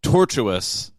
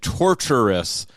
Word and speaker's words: tortuous: to pronounce words so it is tortuous tortuous not tortuous but I thought you were saying torturous like so that's being